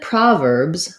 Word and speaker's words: Proverbs: So here's an example where we have first syllable stress and letter O says ah. So often in stressed syllables, the spelled letter O is going to say the vowel sound ah.